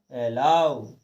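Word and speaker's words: allow: लेकिन कुछ अपवाद हैं, कुछ शब्द ऐसे हैं कि उनको हमें ओ की मात्रा ना लगा करके आव लगा करके हमको पढ़ना है, कुछ हट के अलग पढ़ना है। जिस प्रकार से हमने यहाँ पढ़ा वाव, एलाव, हाउ, नाउ।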